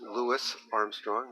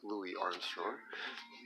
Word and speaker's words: Louis Armstrong: we got Louis Armstrong pronounced Louis Armstrong not Louis Armstrong that Frank Zappa playing